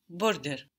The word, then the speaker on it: Wörter: This is actually spelt with a T, so you won't soften it. Die Wörter. When you add that ER onto Wort, the O takes an umlaut.